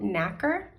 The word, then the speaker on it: nacre: So the mollusk secretes a substance called nacre. I think that's how you say it. It's spelled N-A-C-R-E.